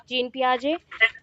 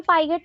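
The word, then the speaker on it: Jean Piaget: जीन पियाजे, ठीक है, जीन पियाजे। उनका नाम पाइगेट नहीं है, तो हम लोग बोल देते हैं, बट उनका करेक्ट प्रोनाउंसिएशन होता है जीन पियाजे, ठीक है।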